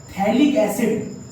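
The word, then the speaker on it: phthalic acid: एक टेस्ट और है मेरे पास, ये है मेरे पास थैलिक एसिड, this is known as थैलिक एसिड, P silent थैलिक एसिड।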